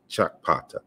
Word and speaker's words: Sakpata: They recognize this deity as Chakpata, and the K and the P sounds are, you know, it's a double articulated sound, so they're pronounced together, or really fast, because you really can't really pronounce them together, but it's Chakpata, right?